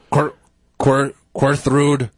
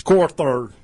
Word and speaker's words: Corthard: Corthrude. Corthard. How do you say your name? It's Corthard.